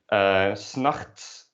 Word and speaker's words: 's nachts: 's nachts doesn't usually get pronounced like that, but you drop the T, basically when you say that. You say 's nachts.